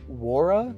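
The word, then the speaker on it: Nwora: I think it's w war something like that I know they said the N is silent for his name so I think it's War Jordan war was just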